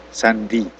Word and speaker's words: Sunday: Sandi. Jadi, di sini bisa dilihat S Bay. Nah, itu dibacanya sandi nama orang ya, sandi.